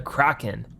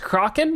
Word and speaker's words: Kraken: the thrill as it always been pronounced Kraken I've always said Kraken I think it's supposed to be cracking now we have the Phantom